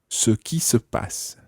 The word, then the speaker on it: ce qui se passe: It's quite tricky this because ce qui is C-E-Q-U-I, ce qui, Ce qui and then se passe, that ce is S-E because it's a reflexive verb, se passer, to happen. Ce qui se passe. Ce qui se passe. And in spoken French, it's very often run together.